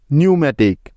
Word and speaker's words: pneumatic: নিউম্যাটিক, PNEUMATIC, নিউম্যাটিক। এখন এস এর আগে পি সাইলেন্টের কিছু উদাহরণ, যেমন সাইকোলজি, PSYCHOLOGY, সাইকোলজি।